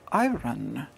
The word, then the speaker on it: iron: she was wonderful but she said i run and not iron and i had never ever in my life heard anybody pronounce iron as i run and i thought that